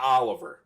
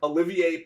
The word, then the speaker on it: Olivier: Olivier Prue Olivia wow not Oliver Olivier Olivier who brings experience working